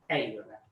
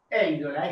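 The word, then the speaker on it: εἴδωλα: Bueno, el acento, lo sabemos, lo recordamos, el acento en el segundo elemento de un diptongo en griego, pero se pronuncia en el primero, ¿no? Eidola. Eidola, esta es una O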